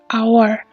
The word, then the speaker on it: hour: n hour the sky pun tulisannya adalah dia dimulai dengan speech tapi ketika kita membacanya menjadi our huruf hidup yang kita